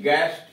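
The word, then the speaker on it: guest: जी यू ई एस टी, गेस्ट, अतिथि। W silent, W आर ओ एन जी, रंग, रंग, गलत, यानी यहां डब्ल्यू साइलेंट है।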